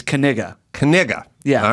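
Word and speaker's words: Knigga: I know how it's pronounced how is it pronounced it's kiga kiga yeah all right Noah is such a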